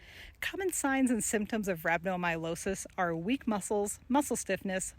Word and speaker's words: rhabdomyolysis: Rhabdomyolysis, pronounced rhabdomyolysis, is a condition that causes your muscles to break down or disintegrate, which leads to muscle death.